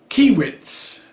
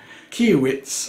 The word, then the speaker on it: Kaiweets: just so you know i think it's pronounced key widths apologies to the company if i've made a huge mess up of that name keowitz i would imagine and